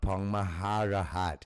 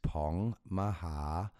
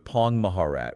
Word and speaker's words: Pong Maharat: It is not Pong Maharahat. It is Pong Maharat. You are absolutely right. Our apologies for that. Thank you for the immediate correction. We truly appreciate it. We must have misunderstood the previous nuance. So it's Pong Maharat without the hat sound. Got it. The ending is softer.